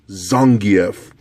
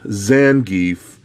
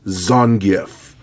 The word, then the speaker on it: Zangief: at the storm collectibles Zangief now I say Zangief not Zangief it's Zangief I hate when people mispronounce his name now I'm I'm just a